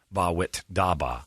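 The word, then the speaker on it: Bawitdaba: go 23 years ago bawwit daba which i'm just now learning is how you say that nice job kid rock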